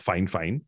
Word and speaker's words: FIFINE: This is actually a mic that was sent to me by a company called, and interestingly, it's pronounced Fine. It's FIFINE, but it's pronounced Fine.